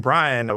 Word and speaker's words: Bryan: I used to, years ago, before I even studied it, I thought the lawyer's name was William Jennings Bryant, like the T.